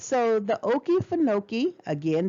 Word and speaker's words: Okefenokee: all right so the oki funoki again they gave you the pronunciation and i like the way that word sounds okie fanoki the okefenokee swamp is